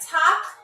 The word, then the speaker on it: takk: Talk is spelled Takk.